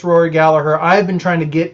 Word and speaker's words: Gallagher: thought it was rory gallagher but if you listen to an irish person say it's gallaher um you know so